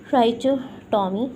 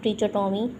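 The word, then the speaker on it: trichotomy: तो पहली प्रॉपर्टी की तरफ हम अपनी आते हैं, ट्राइचोटॉमी प्रॉपर्टी। ट्राइचोटॉमी या ट्रिचोटॉमी दोनों प्रोनाउंस हो जाता है।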